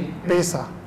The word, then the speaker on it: पेशा: आपका शिक्षक का क्या प्रोनाउंसिएशन होगा इसका? शिक्षक का क्या होता है, पैसा या पेशा? सर एक पेशा है। पेशा। फिर प्रोनाउंस कीजिए इसको। जी सर, वापस रिपीट कीजिए। पेशा।